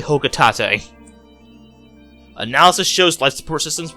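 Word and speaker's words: Hocotate: my family on planet hokutate and yes it actually is how it's pronounced i thought i thought it was poked like a bunch of other people but it's actually hoka tate analysis shows life support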